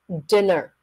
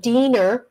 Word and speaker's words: dinner: nice what a nice dinner I I dinner it's a short I it is not dinner it is not Diner unless you're speaking Spanish or Vietnamese English it's dinner dinner so like did did